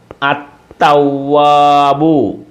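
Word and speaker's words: التواب: തവ്വാബുൻ തവ്വാബുൻ തവ്വാബുൻ അത്ത കണ്ടോ ലാമിന് ഉച്ചാരണമില്ല അത്തവ്വാബു തവ്വാബുൻ തവ്വാബുൻ അത്ത കണ്ടോ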